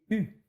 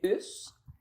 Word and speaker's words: Hus: Et je vous dis tout de suite, on prononce ici le S Ouais. comme on prononce toutes les finales pour que le notaire puisse bien écrire À l'époque. à l'époque. OK. Mais en France, c'est U.